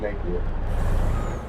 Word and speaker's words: Napier: Napier, yeah, it's pronounced Napier.